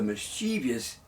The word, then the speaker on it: mischievous: Mischievous. 3 syllables. It's spelled Mischievous.